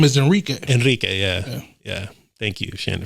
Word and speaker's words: Enrique: Oh, so you having people roll their R's? I am. Enrique. If it's a Spanish thing, I'm going to say it in Spanish.